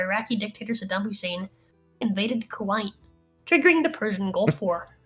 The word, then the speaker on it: Kuwait: dictator Saddam Hussein invaded Kuwait, triggering the Persian Gulf War. Kuwait. Not Kuwait. Kuwait. You sound like Hamza Youssef when you say it like that.